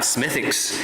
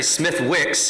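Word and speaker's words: Smithwick's: he said no Pastor you gotta have smithics and apparently Smith Wicks is as it's spelled is is an Irish beard and so part of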